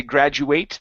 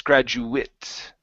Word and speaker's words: graduate: prospects good good good now with the a t here we don't want to say graduate that's the verb it's graduate oh graduate wit graduate with a short eye sound one more time I